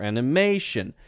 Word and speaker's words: animation: or emotion or animation if you have that Tio n at the end then it's probably going to be stressed right in front of that okay so how do we say this differently animation animation animation animation instead of Animation